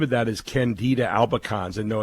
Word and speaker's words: candida albicans: about here it's it's about something totally different candida albicans am i saying that correctly yes you're saying